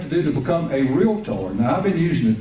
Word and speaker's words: Realtor: the Texas Association of Realtors and the National Association of Realtors. And by the way, realtor is a 2-syllable word. The one so most often mispronounced is realtor. That is incorrect.